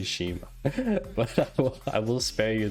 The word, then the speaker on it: schema: So Jeff says, I think it's pronounced a hard C, schema. So there's a whole backstory to why I say schema, but I will spare you the backstory today.